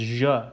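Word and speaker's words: Ժ: Next, we have je, uppercase, lowercase, pronounced as je, kind of a round sound, je.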